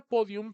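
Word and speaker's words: pódium: por ejemplo la palabra podium primeramente verifiquemos Cuántas sílabas tiene podium tiene dos sílabas y la sílaba tónica dónde está podium podium podium aquí en la en po es una palabra grave y recuerda que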